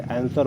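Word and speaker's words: answer: एस के बाद अगर डब्लू आता है तो वो साइलेंट होता है, जैसे आंसर हो गया, शॉर्ट हो गया, शॉर्ट हो गया।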